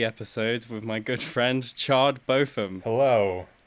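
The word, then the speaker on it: Chard Botham: Rick and Morty episodes with my good friend chard boffin hello it's me Charter both them did I say it right aye I pronounced it chard bottom but it's also a fake name that doesn't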